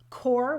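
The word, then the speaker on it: QoR: But a few I can list would be Daniel Smith, Core, which is spelled Q-O-R.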